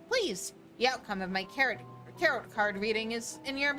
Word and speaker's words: tarot: The outcome of my tarot card reading is in your hands. Okay, first of all, it's pronounced tarot.